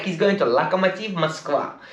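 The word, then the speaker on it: Lokomotiv: like he's going to lack a motive yes that's how you pronounce it properly not locomotive moscow it's like a motif musk and it looks like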